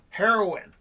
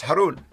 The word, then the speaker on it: Haroun: people say it wrong some people say heroin it's not heroin that's not true it's haroon yeah no no yeah well